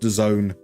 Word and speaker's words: DAZN: I I only learned that it was meant to be pronounced the zone um courtesy of the club world cup.